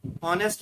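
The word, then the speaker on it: honest: ठीक है, ऑनेस्ट में फर्स्ट लेटर एच साइलेंट रहता है।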